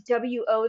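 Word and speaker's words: を: And lastly, we have wa, o, and So that o, which is spelled as W-O there, wo, we often pronounce it as o, and it's used to mark words and sentences.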